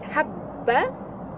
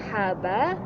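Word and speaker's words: حَبَّ: Do I want to pronounce it as habba? Okay, like, can you see? Can you hear that? The double B? Habba. Habba. Not haba, but habba. It's double B.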